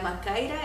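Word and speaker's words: μάχαιρα: la palabra griega eh en español se escribe machaira pero se pronuncia en la macaira eso era una una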